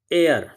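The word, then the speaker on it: heir: H silent है तो इसका क्या प्रोनाउंसिएशन होगा? तो हो जाएगा एयर।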